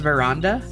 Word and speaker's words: veranda: I've always heard it pronounced veranda. With, like a long A sound.